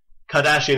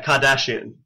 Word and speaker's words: Kardashian: to be a s h i a n Kardashian is how it's pronounced yes yeah Kardashian yeah the whoso the what the guess the